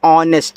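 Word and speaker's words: honest: एच ओ एन ई एस टी इसको पढ़ते हैं ऑनेस्ट। यहां एच आपका साइलेंट होता है।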